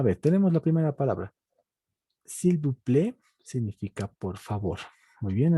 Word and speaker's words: s'il vous plaît: Esta S no se pronuncia y se dice s'il vous plaît. La A-I se vuelve E. La T no se pronuncia, entonces simplemente s'il vous plaît.